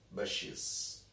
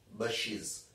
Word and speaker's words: bushes: Then the soft green paddy fields gave way to tea, not bushes, bushes. Pronunciation, bushes, not bushes.